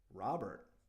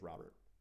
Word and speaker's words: Robert: name but just saying the proper way to pronounce it is Luis Robert just just Robert but people want to say Ro be because it sounds nice that's fine doesn't bother